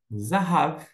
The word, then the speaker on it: זָהָב: tá só para ter uma ideia zav zav zahav significa ouro depois que você aprendeu a palavra zahav ouro Você tem uma outra palavra você já